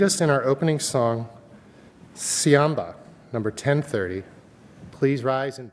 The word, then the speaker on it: Siyahamba: And with apologies to any Zulu speakers out there, the pronunciation goes like this. Repeat after me. Siyahamba.